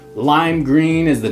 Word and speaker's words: Gruene: so weird if you didn't have the name green the way the town is spelled in green so number two we're talking